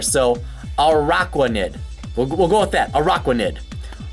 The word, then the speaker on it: Araquanid: Now, I want to see Arachnid, but I feel like I gotta get another syllable in there. So Araquanid. Mine Aqua's in there, so Araquanid.